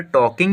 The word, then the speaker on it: talk: मैंने इसलिए, we were टॉकिंग about हम लोग बात कर रहे थे, TALK टॉक, यहाँ पर एल साइलेंट होगा, तो टॉक मैंने बात करना, टॉकिंग मैंने बात, यहाँ पे वर्ब फॉर यूज़ हुआ है।